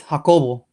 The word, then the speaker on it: Jacobo: Can you say my name in Spanish with your accent? It's Jacobo. Jacobo. Jacobo. Jacobo. I like how you say it so soft.